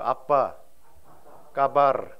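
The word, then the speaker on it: Apa kabar: 아빠 까바르, 아빠 까바르. 이게 발음 조심하셔야 됩니다. 아빠 까버리야 이렇게 할 수도 있으니까요.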